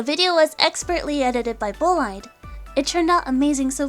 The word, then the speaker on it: Bolide: pronunciation just in case, apparently there are other pronunciations and other meanings. Apparently it's bolide in French. And some people say bolide as well.